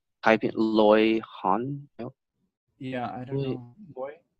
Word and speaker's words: Han: And yeah, Han. Like Han is HAN. Like Han. Yeah, Han. Like, Like you hung up the phone, the Han HUNG.